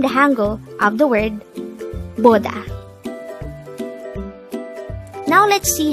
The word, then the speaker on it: 보다: This is a two-syllable word. The first syllable is bo, the second syllable is da.